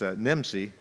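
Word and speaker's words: NMSI: can be replicated nationwide nm si pronounced it's NIM see if you if you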